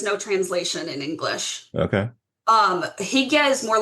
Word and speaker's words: hygge: sort of Scandinavian examples of, I can never pronounce the word right, hygge, Oh, yes, Higa.